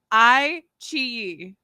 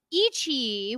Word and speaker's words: iQIYI: It's on iQIYI. That's how you pronounce it.